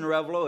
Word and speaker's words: Arevalo: so like I said my name is revolo if you really want to say it right